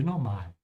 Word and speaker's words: normal: Yeah, thank you, Jordan, who is a native English speaker and pronouncing the A perfectly here. So make sure to pronounce it like he did. Normal with an open A.